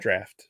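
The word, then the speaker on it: draught: brought over some Guinness drought Stout drought drought is that how you pronounce it draft draft draft that's what I meant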